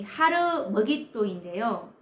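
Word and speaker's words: הר מגידו: 원래 발음은 이 하르 머깃도인데요.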